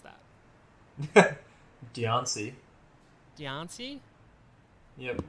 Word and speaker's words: Diancie: Up next is I can't pronounce that. Diancie. Diancie? Yep. Diancie.